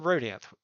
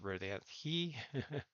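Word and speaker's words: Rodanthe: 4 feet, and then Rodanth, where the waves are 2 to 4 feet. Rodanth, also pronounced Rodanth-he. We've got those double pronunciations here on the Outer Banks.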